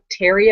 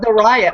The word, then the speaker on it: Theriot: words the riot yeah I think it's like Cajun or French so I think it's pronounced something more like Terry oh yeah but it looks like the riot I kind of like